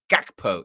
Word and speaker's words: Gakpo: And it's Cody Gakpo. It's a hard G.